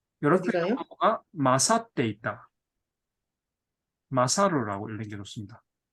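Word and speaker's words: 勝る: 마사루라고 읽는 좋습니다.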